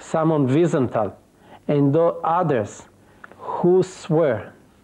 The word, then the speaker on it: Wiesenthal: Let me ask you about Wiesenthal, is the nice pronunciation, yes. Wiesenthal.